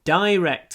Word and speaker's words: direct: So, американцы вроде direct говорят, а мы говорим direct. Direct. Так что чуть-чуть вот произношение отличается. Британский direct мы произносим через «е».